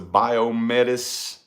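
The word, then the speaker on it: Biomedis: you all know yeah it's the biometis i think it's pronounced metas b-i-o-m-e-d-i-s trinity you put your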